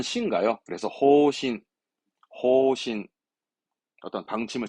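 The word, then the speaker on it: 方針: 침 발음은 신가요? 그래서 호신, 호신.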